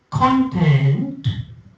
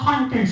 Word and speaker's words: content: t so if you speak content that means the things inside right what are the contents of that bottle what are the contents of that book so contents and if I say content satisfied I'm content with what I have right so you have